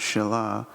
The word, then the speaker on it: Shiloh: first let's look up the word Shiloh pronounce Shilah with strongs number 7886 says